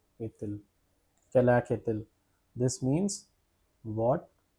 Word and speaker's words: est-il: Pronunciations are quelle, et, because of the liaison rule, T will get connected with this I. The pronunciation will be est-il.